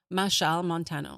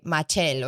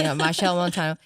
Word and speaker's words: Machel Montano: Machel Montano. Okay, cuz in my head I would say Matel or something. Machel Montano, Kes Kes uh, one of my favorites Bunji Bunji Garlin uh, Nailah Blackman Yes.